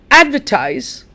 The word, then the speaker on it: advertise: slide my dear students advertise advertise photograph I'll say that again advertise photograph advertise photograph notice that the stress is on the first syllable can you say that